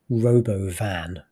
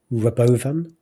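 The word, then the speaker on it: Robovan: like he weirdly deliberately I guess mispronounced Robo van like he initially was calling it Rovan like what what you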